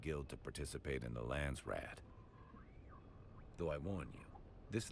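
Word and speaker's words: Landsraad: So the way they pronounce it, Lansrad. Um, it just it sounds so funny to me because the correct pronunciation would be Lancerat which did which which directly translated means land council.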